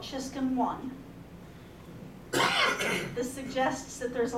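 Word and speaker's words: Czyszczon: Her name's Amelia Chiscon. I will tell you that is spelled C-Z-Y-S-Z-C-Z-O-N, just because, it's got a really easy pronunciation and a really tough spelling.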